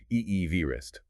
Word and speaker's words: Everest: And it's kind of funny the way we pronounce Everest today, it's different from how Sir George himself pronounced his name. Oh, really? Yeah. His pronunciation was closer to Eevee vistrist.